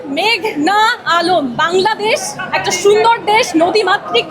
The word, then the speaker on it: মেঘনা আলম: মেঘলা আলম আদালতে এসে শুনি পিপি বলছেন মেঘলা আলম আমার নাম মেঘনা আলম বাংলাদেশ একটা সুন্দর দেশ